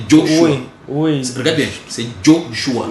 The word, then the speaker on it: Joshua: Tu as prononcé Josué là, c'est dans quelle langue? Ça c'est déjà francisé. Et francisé, en anglais on va dire quoi? On va dire Joshua. C'est Joshua.